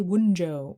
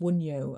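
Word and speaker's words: Wunjo: I want to say wjo, which is actually pronounced wuno, I think, and it's a rune.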